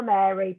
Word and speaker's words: Meri: It's Power Mary, but it's spelled MERI, and it's an amazing